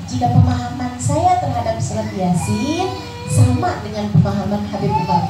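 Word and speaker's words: يس: Kenapa Yasin dibaca Yasin? Kenapa nggak Yasa gitu?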